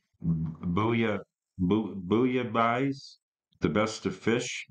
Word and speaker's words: Bouillabaisse: And I have to explain, and this is a hard one for me to pronounce. The album is called Bouillabaisse, The Best of Fish. Bouillabaisse is a like an alphabet soup.